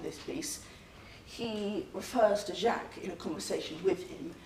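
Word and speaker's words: Jaques: him jack right but there are also a few other pronunciations Jacquees and Jake's now Jake's in particular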